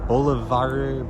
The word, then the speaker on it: Boulevardier: mispronounce this, but the Boulevardier, it's like the French pronunciation of Boulevard, which is, I think, a Negroni, but with whiskey instead of gin.